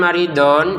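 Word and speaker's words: مريضا: Kemudian maridon kita baca marido ya. Sekali lagi don dibaca do dua harakat panjangnya karena berhenti. Marid seperti itu.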